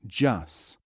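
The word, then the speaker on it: جس: The word is pronounced Jus.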